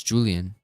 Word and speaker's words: Julian: Like, oh, it's Julian. I don't know why I thought the I was a Y sound. Julian. Like Ario. Julian. It's just Julian with a J. Julian.